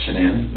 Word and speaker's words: Shannan: And I don't want to pronounce her name wrong. Shenane. Shenan. Shannan.